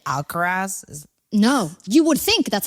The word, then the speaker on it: Alcaraz: Like Alvarez, they say Alcaraz. And I'm like, it's not E-Z, guys. It's A-Z.